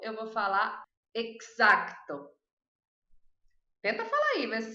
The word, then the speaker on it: exacto: E a número 5, eu vou falar exacto. Tenta falar aí, ver se você vai conseguir. Exacto. Porque tem que pronunciar esse Czinho aqui também. Ele não é mudo.